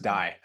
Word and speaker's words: Dai: welcome to the show day uh thanks Rebecca and I know sometimes it's pronounced day but sometimes it's also pronounced die so you we'll go